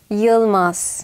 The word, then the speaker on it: Yılmaz: Also es ist richtig türkisch ausgesprochen, wäre es. Yılmaz.